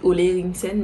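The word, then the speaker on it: Ole Henriksen: Enfin, ça s'écrit Ola Eriksen, mais ça se dit Ola Eriksen.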